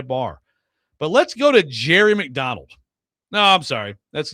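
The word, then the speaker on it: Jere: Now, by the way, Jerry is spelled J E R E, but it is pronounced Jerry.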